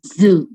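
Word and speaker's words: づ: Dia tsu pakai teng-teng jadinya zu. Zu. Oke. Da, ji, zu. T pakai teng-teng jadinya d. Kalau to pakai teng-teng jadinya do. Jadi da, ji, zu, de, do. Bukan da, di, du, de, do.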